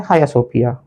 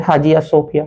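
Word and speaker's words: Hagia Sophia: Istanbul, Istanbul Turkey का है, और ये है हाया सोफिया, ये है हाया सोफिया या फिर हाजिया सोफिया, कुछ लोग उसको हाजिया सोफिया भी बोलते हैं,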